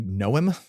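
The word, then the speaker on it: Noem: Bachman Vibes uh yeah what's Christy Noom is that how you say her name yeah n like a gnome like a tiny gnome got it um Christy gnome yeah she's the governor of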